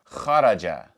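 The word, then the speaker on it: خرج: So, all together this entire word would be pronounced kharaja. Kharaja.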